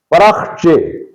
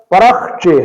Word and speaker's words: پرخچے: پڑھتے ہیں، پرخچے، تو یہ لفظ پرخچے ہے یعنی رے پر بھی زبر ہے اور خے پر جزم ہے، خے ساکن حرف ہے، تو عام طور پر اس کو غلط تلفظ کے ساتھ ادا کیا جاتا ہے اور غلط تلفظ ہے پر خچے، تو پر خچے پڑھنا غلط ہے، پرخچے پڑھنا درست ہے۔ اسی طرح یہ لفظ